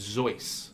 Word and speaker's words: Zois: apostrophe or is it just Z-O-I-S? Z-O-I-S? Okay. Thank you. And I clarified that with Jimmy himself. He said it rhymes with Rolls Royce.